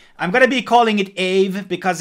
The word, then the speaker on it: Aave: gonna be calling it a v' because it's hard to jump from my English accent to the Finnish one so I'm just gonna be calling it a v' Ave it's the correct pronunciation so this is basically